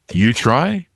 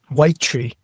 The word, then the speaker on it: Uy-Tri: You try? Dude, you would think, right? Actually, the way it's supposed to be pronounced is white tree. Like a white tree.